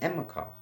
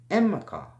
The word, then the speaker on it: Enmerkar: purpose or not, but it's spelled Enmerkar, but then they have like dashes and apostrophes in it, so this will throw you off in the pronunciation. But it's a simple name, Enmerkar. Enmerkar.